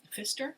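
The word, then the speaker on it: Pfister: the name of Marcus Fister so it's p f i s t r but the p is silent English is such a weird language so it's Marcus um Fister wrote the the rainbow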